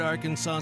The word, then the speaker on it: Arkansas: On your favorite Arkansas sports talk station.